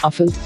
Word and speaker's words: Rafale: The Dassault Rafale, French pronunciation Rafale, literally meaning gust of wind and burst of